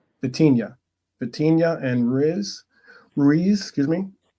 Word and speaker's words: Vitinha: João Neves, Vitania. Wait, how do you pronounce his name? Vitinha.